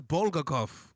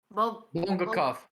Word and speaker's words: bvlgvkov: How Oh, do you pronounce his name? that's Bulgakov. Bongakov.